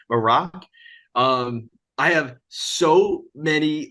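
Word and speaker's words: Marrok: pronounced um but so so The Inquisitor is pronounced Mar morac it's m a r r o k I think or o c k morac um I have so many like who could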